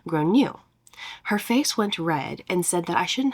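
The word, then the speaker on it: Gráinne: and I said well in Ireland they typically pronounce it like grown new her face went red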